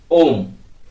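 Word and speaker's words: homme: हा ओ एम एम ए इसको बोलते हैं ओम जो ये हा है जो ये हा है जो साइलेंट हो जाता है फ्रेंच में क्या होता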